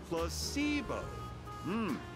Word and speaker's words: placebo: Repeat after me. Placebo. The stress is on the middle syllable. Placebo, ya, sí, no es una palabra nueva, pero vale.